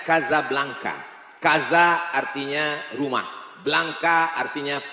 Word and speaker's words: Casablanca: kuliah nama negaranya Maroko ibukotanya tulisannya Casablanca Hai cara bacanya Gaza Blanca Gaza artinya rumah Blanca